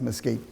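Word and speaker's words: MSCEIT: that in a second it's pronounced musky the second stream is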